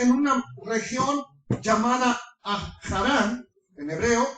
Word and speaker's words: Harán: una región llamada a harán en hebreo o Adán en español porque la H es muda como se escribe con h en español es muda la H por eso se dice harán pero es harán y